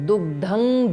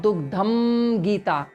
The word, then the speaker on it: दुग्धं: now pay attention to dugdhang gita and not dugdham gita. Okay, so it is not dugdham gita, the way that M is written, it is not to be pronounced as M right now.